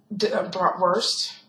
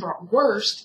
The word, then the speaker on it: Bratwurst: The V sound, which is how W is pronounced, Bratwurst, which is how Germans say it, and Bratwurst is how Americans say it.